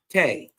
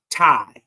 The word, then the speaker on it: Tae: So it's actually Thai. So before she taught me how to say the word properly, I thought it was Te.